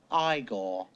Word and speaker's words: Igor: You must be Eigor. No, it's pronounced Igore.